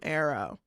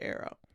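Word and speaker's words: Aro: I know I said that 15 times already, but um anyway, we're going to start from Arrow. Arrow.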